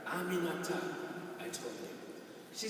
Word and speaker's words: Aminata: Aminata, 4 syllables. It's really not that hard. Aminata, I told her.